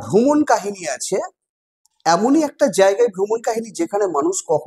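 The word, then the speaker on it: Jean: নামটা হয়তো তোমরা উচ্চারণ করবে এরকমভাবে জেন জিওন আসলে উচ্চারণটা জেন নয়। উচ্চারণটা হবে জ্যা কারণ উনাদের উচ্চারণের মধ্যে একটা ছন্দবিন্দু চলে আসে।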